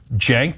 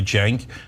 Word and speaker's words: Cenk: Cenk, this is pronounced like a J, Cenk, and then Uygur, Cenk Uygur.